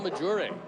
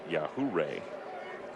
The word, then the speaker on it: Majure: The pitcher is a Miguel Majure maybe believe it's pronounced uh Yahuray.